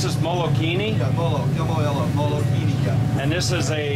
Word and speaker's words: Molokini: So this, you pronounce this Molokini? Yeah, Molokini, yeah.